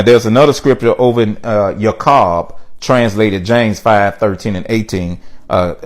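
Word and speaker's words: יעקב: a translated translation of your car or something yet say you're cold and then the englishman pronounce it Jacob but it's your car or you're cold in the original alright so I'm being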